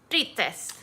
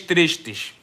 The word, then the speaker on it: tristes: You know, it's tres tigres tristes. Always put shush. They always do the shush in there.